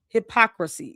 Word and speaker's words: hypocrisy: Hypocrisy. She might not. It's It's hypocrisy. It's four syllables.